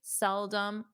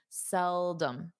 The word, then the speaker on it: seldom: So rarely, seldom, they're the same. You can use either one. So let's review the pronunciation. Seldom, dum. So notice the om is not a strong It's seldom, seldom, seldom.